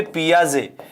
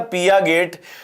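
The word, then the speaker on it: Piaget: ये होता है आपके पियाजे। अब इस पियाजे में, ये पियाजे तो यहीं पे रह गया, टी इसमें साइलेंट रहता है, और हिंदी फॉन्ट इसको क्या पकड़ लेता है? पिया गेट।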